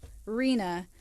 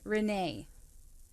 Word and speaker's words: Rena: He said his mother's name is not common and is mispronounced a lot. Her name is Rena, and it came through as Renee.